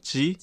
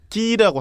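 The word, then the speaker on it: 鸡: 근데 산동 지역 사람들은 지 발음을 못 해. 사투리니까 지 발음 못하고 전부 지 발음을 끼라고 하는 거야.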